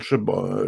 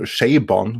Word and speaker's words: Chabon: reshoots have helped that Michael Chabon Sabon which I believes how it's supposed to be pronounced has done a fairly